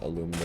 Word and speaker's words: aluminum: We're also kind of short on tungsten, and very, very short on aluminum, or aluminium, depending on how you like to pronounce it.